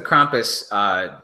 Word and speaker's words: Krampus: It's like German, right? Krampus. Yeah, it's German. It's a German word.